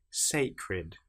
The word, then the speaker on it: sacred: sacred. fed. These are ones where you hear the e sound before the last letter.